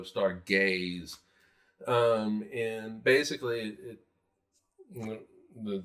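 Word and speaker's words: Stargayze: so and uh Mecca it is spelled s-t-a-r-g-a-y-z-e um so star gays um and basically it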